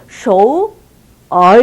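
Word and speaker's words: 首尔: 삼성 그래갖고 정확하게 하면 쇼우 얼 이렇게 되는 거예요.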